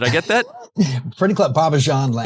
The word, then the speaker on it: Bobbejaanland: a 3D media-based immersion tunnel attraction at Belgium's Bobbejaanland. Did I get that? Pretty close. Bobbejaanland. Bobbejaanland.